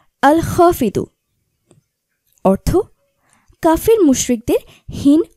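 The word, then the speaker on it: الخافض: হাফিদু জিকিরের আমল ও ফজলত তুলে ধরা হলো উচ্চারণ আল খাফিদু অর্থ কাফের মুশরিকদের হীন ও নিচুকারী আল্লাহর গুণবাচক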